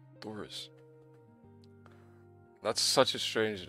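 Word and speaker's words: Searos: So it's spelled like S-E-A-R-O-S, and you pronounce it Thoris. Thoris.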